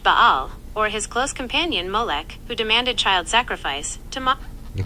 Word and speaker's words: Molech: Some commentators connect Baal or his close companion Molech who demanded child sacrifice to Okay, that's the that's the I'm saying it wrong. Says me Molech. Molech. I always say Morlock.